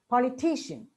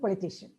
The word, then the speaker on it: politician: For example, politics, but political, and politician. See, unless we know this, we'll say politics, political, politician. And intelligibility may be affected with some people.